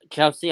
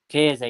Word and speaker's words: Chiesa: Can you say his name? Chelsea. I can't pronounce his name. Chiesa. Chiesa, yes. Chiesa.